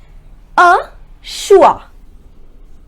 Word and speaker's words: au choix: first word is au choix repeat after me ah schewe which means a choice next word on was